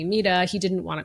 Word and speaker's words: Mita: So I gave him the option to call me mida.